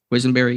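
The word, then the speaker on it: Quessenberry: Quisenberry, yeah.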